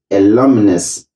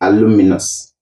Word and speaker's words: alumnus: longness i hope you have learned the correct pronunciation and the correct usages of the word alumnus and alumni alumni is plural and alumnus is singular do not say aluminus do not say alumini say alumnus and alumni